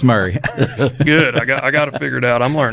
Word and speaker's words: Murray: okay Franklin 3600 um Murray County that's how it's pronounced here I got to I got to figure these counties out I heard a joke though one time it was Mari instead of Murray that was a fun